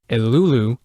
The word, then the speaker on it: Eruru: Most notably, I'm going to pronounce Eruru as Elulu and Refi as Refi.